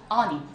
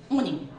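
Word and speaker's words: awning: 요거 미국식으로 발음하면 한번 따라 말해볼래? 갑니다. 어닝 영국식으로 갈게요. 오닝 그쵸? 이 오닝이라는 발음이 자주 나오니까 발음까지 오닝으로 기억하시면 좋아요.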